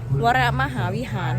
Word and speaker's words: วรมหาวิหาร: วัด พระ ธาตุพนม วรมหาวิหาร อ่าน ชื่อ บ บุ หรือ ว่า อ่าน ว่า วรม บ่ แม่น ดอก มัน ต้อง เป็น วัด พระ ธาตุ พนม วรมหาวิหาร นี่ ตอน นี้ เฮา